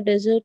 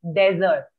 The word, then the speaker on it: desert: and it's pronounced as desert desert desert because if you say dessert it becomes a sweet dish that we eat and spelling will be